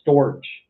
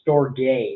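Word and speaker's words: Storge: our types of love episodes i called it storage was the love and i should probably know what i'm talking about before i go on the podcast it's pronounced store gay which i i knew and i didn't i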